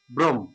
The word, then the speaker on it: ব্রহ্ম: থাকে তাহলে ওকার হবে ব্রম আর এই যে ব্র লেখলাম এখানে জিনিসটা এটা হচ হ যোগ ম এটা হচ্ছে এটা এভাবে লিখি কিন্তু এখানে উচ্চারণের সময় হটা মটা আগে আসবেটা পরে যাবে ব্রম ব্রম হান্ড ব্রম হান